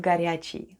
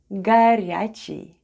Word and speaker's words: горячий: Let's spell the word ГОРЯЧИЙ /garyacheey/, which is Russian for "hot" The first sound is /g/ then goes O (which is unstressed and pronounced as /a/), then we have /r/,